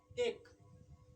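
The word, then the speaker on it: ache: उसी तरह है कि ए सी एच ई है ना, ये होगा एक, यानी काउंटिंग वाला एक नहीं, ये होता एक मतलब दर्द होता।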